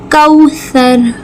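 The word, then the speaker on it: كوثر: कौसर कौसर सा को नरमी से र को पुर करके वाओ लीन एक अलिफ के बराबर खींचेंगे कौसर यहां पे गुना करेंगे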